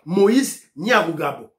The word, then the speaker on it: Nyarugabo: L'intention la prononcer comme on est bien, maman Ghislaine Chouwa, l'intention la prononcer bien. Moïse Nyamurabo.